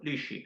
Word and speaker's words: Lisci: Alessio Lishi, hay que pronunciarlo bien, e porque él nos enseñó un día, eh, a pronunciarlo.